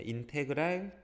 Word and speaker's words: 인테그랄: 자, 인테그랄 dx. 요 앞에 거 읽을 때 인테그랄이라고 읽어요.